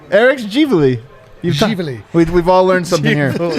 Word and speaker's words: JaVale: She was right when she said it was Javale. We were like saying Givali.